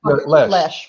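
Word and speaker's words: Loesch: Lesh. Rhymes with fresh. Yeah, pretend the O isn't in the name. Yeah. Just, Lesh.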